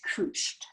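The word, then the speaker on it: couché: that i have quote it's spelled like couch or couched but in french it's kooshed so pretty fancy so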